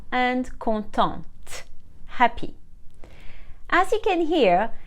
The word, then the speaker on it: contente: masculine like conto and content happy as you can hear just like for nouns the consonant is silent at the end of the masculine but we pronounce it for the feminine conto and conton if the masculine ends